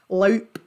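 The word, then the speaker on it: loup: can be mispronounced misconstrued it is pronounced loop and if you loop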